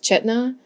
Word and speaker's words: Chaitana: This one is from Chaitana, although the internet said it's pronounced Chetna, so I'm just going based on the spelling I see.